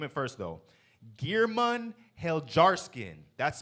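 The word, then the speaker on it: Geirmund Heljarskinn: it for you I'mma name it first though gearman hel jarin that's spelled GE e i r m u n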